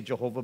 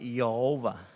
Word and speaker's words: Jehovah: But the way they pronounce the word Al, capital O, capital R, capital D, which is Jehovah, which we say Jehovah, but it's really not. They pronounce it Yehovah.